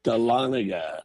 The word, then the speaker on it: Dahlonega: Up here in Dahlonega, Dahlonega. Georgia. Oh, the new Netflix show. I saw that. His and- Well, I haven't His seen and it. Hers is set in Dahlonega, Georgia.